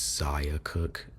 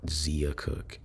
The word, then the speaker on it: Zia Cooke: and editing this video, it's Zia Cooke, not Zea Cooke.